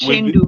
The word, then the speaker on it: Uchendu: TV host Ebuka With Obi with Uchendu, with MEN yes, pronounced like MEN, men.